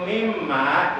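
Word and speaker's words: وَمِمَّا: Jadi huruf mimnya harus digunakan membacanya ditahan satu alif dua harakat atau boleh 1,5 alif tiga harkat karena nunnya bertasdid.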